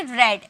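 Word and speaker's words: read: ठीक है, तो अगर वो पढ़ता है तो बोलेंगे इफ ही रेड, इसे हम रेड में प्रोनाउंसिएशन करेंगे क्योंकि ये सेकेंड फॉर्म में आया है।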